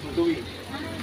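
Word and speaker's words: Tuy: T-U-Y. T-U-Y. Pero ang pronunciation ko doon ay tuwi. Kaya lang sa tuwi, pero tuwi po yan.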